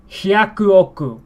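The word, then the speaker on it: 百億: So this one might sound weird to some people, especially after we've had all these patterns and irregularities, exceptions that makes pronunciation much more fluid and flowing better. Suddenly we're given hyaku oku.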